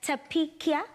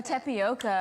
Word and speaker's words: tapioca: made with sago alternatively it's also known as tapikia oh tapioca tapioca okay i love that listen you don't have to pronounce it the same but just as long